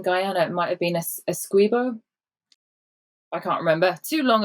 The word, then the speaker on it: Essequibo: Is it Essequibo or Essequibo in Guyana? Neither. Oh. In Guyana, oh gosh, we call it Essequibo. Essequibo, yeah. but I think in Guyana it might have been Essequibo.